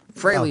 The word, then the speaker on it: Frehley: thirty years German Freyly...I always Spell it wrong Everyone says it wrong But yeah I would say Hreily Freelie admits That freylee is the proper pronunciation Oh its freyleey?